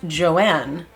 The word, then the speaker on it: Joan: next was joan crawford lucille wanted the name to be pronounced joanne and objected with crawford